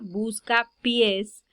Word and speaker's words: buscapiés: general de acentuación ortográfica al pronunciarla buscapiés tenemos una palabra que aquí le recae el acento en la última sílaba por lo tanto se